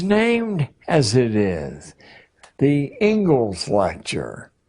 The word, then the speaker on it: Inglis: The Ingalls lecture. Looks like Inglis, but it's pronounced Ingalls.